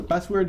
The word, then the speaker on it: passwd: So password is spelled passwd. Password abbreviated, and that command allows you to change obviously your password.